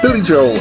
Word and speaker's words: Joel: Let me just pause and say people pronounce his surname in different ways. Somewhere between Joel, which is one syllable, and Joel, which is two, and Joel, which is also two, but with a different emphasis.